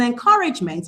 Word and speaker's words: encouragement: But in encouragement, meant is neutral. It doesn't affect the stress at all.